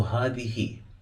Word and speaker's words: هذه: So هذه.